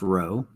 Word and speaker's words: rho: that's what this is It's a Greek letter it's spelled rho pronounced row so row is equal